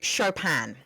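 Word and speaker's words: Chopin: Let's move on to Kate Shopan. Now, what did I learn about this amazing author? Firstly, I learned how to say her name correctly thanks to Google.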